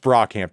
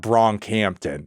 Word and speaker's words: Brockhampton: However, it is pronounced Brockhampton. It's not Bronkhampton.